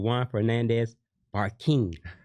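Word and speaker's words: Juan Fernandez-Barquin: Juan Fernandez Barquin. Am I pronouncing it right?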